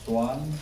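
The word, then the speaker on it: Suan: Again, my name is Swan. My first name is Swan, S-U-A-N. Probably you can't remember that, but it's pronounced like a swan.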